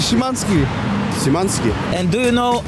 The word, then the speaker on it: Szymański: Szaleni tureccy kibice, także sprawdzamy, jak bardzo popularni są tutaj Sebastian Szymański i Krzysztof Piątek.